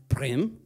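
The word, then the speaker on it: Bremen: what I write down is Breman but it's pronounced brim brim Bri brim exactly is Thomas Schumaker as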